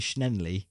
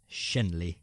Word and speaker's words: Shenley: You're putting an extra N in there. You're saying Schnenley. I think it's Shenley.